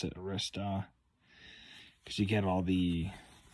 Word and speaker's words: Arista: arcd8192 it's Arista however you pronounce it I pronounce it Arista because you get all the so it looks like you got eight tracks on this CD from 1983 80.